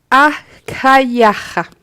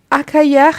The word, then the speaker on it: Achaiah: Achaiah, si je ne me trompe pas. Donc, A-C-H-A-I-A-H. Achaiah.